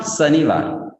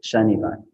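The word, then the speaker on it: शनिवार: It is not Sanivar. It is Shanivar.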